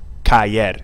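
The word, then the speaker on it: caer: is pronounced like that Kayer it's not ker it's ker there's two syllables to it you can probably think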